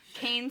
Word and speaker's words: Kane: called candy cane kills Kane spelled like the name k-a-i-n um by Brian McAuley